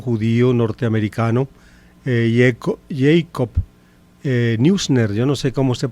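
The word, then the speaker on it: Neusner: norteamericano eh Jacob eh Newner, yo no sé cómo se pronunciará eh el apellido eh en inglés. Eh, el apellido es de origen alemán. En alemán se dice Jacob Noisna.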